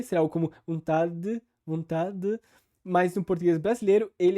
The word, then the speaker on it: vontade: Por favor, senhor, tira de mim essa vontade. Ou seja, primeiro ela pronuncia como ela normalmente pronunciaria se ela lesse a palavra, vontade, com o D e o E, naquelas posições tradicionais para quem fala espanhol, por exemplo.